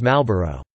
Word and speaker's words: Marlboro: The only exception to this rule is the word Marlboro, which is frequently read as Malboro.